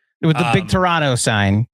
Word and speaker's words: Toronto: We don't pronounce the second T in Toronto, but in none of it, you pronounce the T.